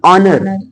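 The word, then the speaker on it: honour: तो यहां पर देखिएगा यदि एच के बाद ओ आई तो वहां एच साइलेंट रहता है जैसे य ऑनर एच ओ एन ओ यू आर ऑनर ऑनर नर ऑनर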